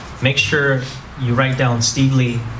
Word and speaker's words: Stevely: many of you might people forget that it's pronounced Lee and you know I'm